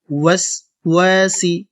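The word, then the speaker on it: وسواس: ওয়াও ঠোঁট গোল করবেন, না হলে কিন্তু সঠিক উচ্চারণ হবে না। ওয়াসওয়াসি, একসাথে মিন শাররিল ওয়াসওয়াসি।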